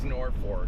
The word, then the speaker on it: Norfolk: Yes, it is Norfork, but then they spell it the way it actually is on the map and it's like, how am I supposed to know how to pronounce it from your spelling?